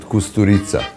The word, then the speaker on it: Kusturica: You pronounce it Kusturica.